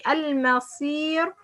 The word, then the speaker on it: المصير: Okay, like المصير. When we pronounce this صاد as a light, المصي, المصي.